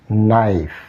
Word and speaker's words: knife: unpronounced knock here also in this word K remains unpronounced knife the consonant sound P